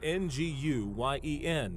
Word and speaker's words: Nguyen: Nguyen is a common Vietnamese name spelled N-G-U-Y-E-N, but pronounced Nguyen.